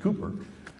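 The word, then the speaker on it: Cowper: uh uh it's spelled cper but it's actually pronounced Cooper said he works in mysterious ways his wonders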